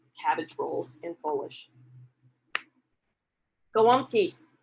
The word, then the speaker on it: Gołąbki: And this one is dated 1979, and the title is Gołąbki, which is a kind of Polish-American, Western Pennsylvania version of how you say cabbage rolls in Polish. Gołąbki, which the ants pronounce gołąbki, you know, cabbage rolls,